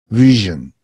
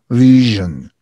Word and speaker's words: vision: listen and repeat region vision vision vision okay the challenge here is to pronounce correctly the Yi and the okay vision okay here the vowel sound is a schwa vision vision vision okay